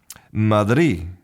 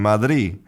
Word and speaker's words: Madrid: But when they say the capital of Spain, sometimes that final D is just not pronounced. Madi is quite a common Spanish pronunciation. Madi.